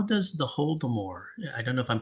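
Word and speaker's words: Holodomor: Am I pronouncing that right? Hold them. Hold them. Is that is that right? Holtomore. Yes. is I would like to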